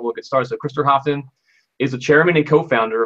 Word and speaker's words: Hoftun: a cool guest an awesome guest uh Chris hofton I should have asked you how to say